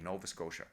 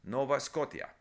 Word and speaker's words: Nova Scotia: Nova Scotia s c o t i a Nova Scotia that's how it's said in English to him it was always Nova scota to him he felt it should be Nova